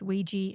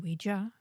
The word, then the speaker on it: Ouija: Yeah, I don't buy that either, because apparently both Ouija and Ouija are correct pronunciations depending on how you want to say it. And it's French.